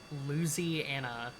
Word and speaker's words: Louisiana: Hey, that's Louisiana, first of all. I don't know. It really depends on what this thing's stall speed is. Luzy Anna. Yeah, close enough. I've met people that pronounce it as such.